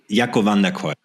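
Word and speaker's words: Jacco van der Kooij: Jacco, can you help me pronounce his name, because I'm gonna completely butcher it? Jacco van der Kooi.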